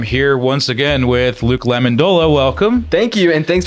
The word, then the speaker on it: Lamendola: I'm here once again with Luke Lamendola. Welcome. Thank you, and thanks for pronouncing my name properly.